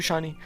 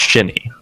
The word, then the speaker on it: Shiny: want to ask you, Shiny, what are your expectations coming into this game, and how are you guys prepping for Capitalism, who just came off from beating Mob Mentality? So it's pronounced Shinny.